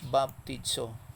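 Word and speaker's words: βαπτίζω: Ang pag-pronounce ni is baptizo.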